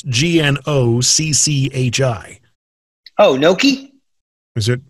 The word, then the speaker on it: gnocchi: you're italian it's pronounced gnocchi gnocchi it's like a silent g gnocchi okay yes what